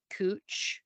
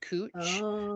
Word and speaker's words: Couch: remember the exit for cooch Street and it was spelled couch it was pronounced cooch and I remember like